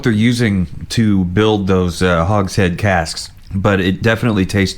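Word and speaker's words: hogshead: carefully finished in Marcela Hog's head not hog Shed from the stunning Florio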